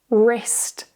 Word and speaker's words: wrist: When W and R are written at the start of a word, the W is silent. For example, right, wrist, wrong.